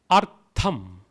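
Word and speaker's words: अर्थम्: Artham. Artham. It is TH, so tha. TH, tha. Artham. Artham. Artham. Anartham. Anartham. Anartham. So artham and anartham together would become arthamanartham.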